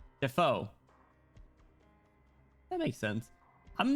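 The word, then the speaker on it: Dafoe: Is it not pronounced Dafo? It's Will. Oh, whoops. Defor Defoe.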